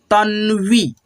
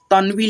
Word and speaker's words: तन्वी: जैसे यहाँ पे देखना आप दोस्तों तन्वी लिखा है, ठीक है, अगर आप ऐसे पढ़ते हो तनवी, तनवी तो ऐसे गलत हो जाएगा आपका उच्चारण, ठीक है, ऐसे करिएगा उच्चारण तन्वी, ठीक है।